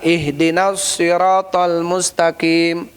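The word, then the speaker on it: اهدنا الصراط المستقيم: Ada yang membacanya dengan ih dengan ha harusnya dengan ha. Ihdinasirathal mustaqim.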